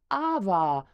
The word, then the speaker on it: awa: and and the poia it's not called Cava it's called AA um so the original